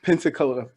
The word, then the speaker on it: Pensacola: Is that how you pronounce it? Is it Pensacola? That is, yeah. Okay. Pensacola, Florida.